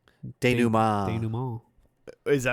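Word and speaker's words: dénouement: The finale is called Denouement. Denouement.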